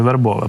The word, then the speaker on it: Вербове: відстані від вербового розташовані вербове правильний наголос так в наші військові в